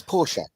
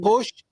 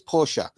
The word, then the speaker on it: Porsche: It's Porsche. It's not Porsche. It's Porsche.